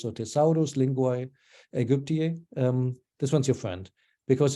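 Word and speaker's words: Thesaurus Linguae Aegyptiae: The Thesaurus Linguae Egyptii, okay, I'm just not pronouncing it Latin, not English, so Thesaurus Linguae Egyptii, this one's your friend.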